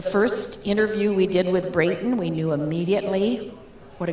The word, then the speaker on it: Breighton: the very first time his name rhymes with the number eight you hear about a